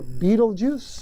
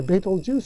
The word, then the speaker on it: Betelgeuse: The bright red star Betelgeuse, or Betelgeuse, or Betelgeuse, or Betelgeuse. Take your pick. You can pronounce it 8 different ways.